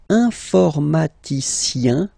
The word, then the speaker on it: informaticien: And the last group is IEN, informaticien, yin, yin, yin. So that's the way to pronounce this IEN, yin, yin.